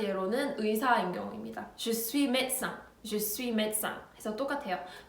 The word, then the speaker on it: médecin: Je suis médecin, je suis médecin 해서 똑같아요. médecin은 짧고 빠르게 발음해 주셔야 돼요.